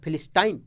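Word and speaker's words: Philistine: फी पी एच आई, फी एल आई ली, फी ली स्टिन, स्टिन स्टाइन, फिलिस्टाइन फिलिस्टीन, जिसे बुझाओ इसे पढ़।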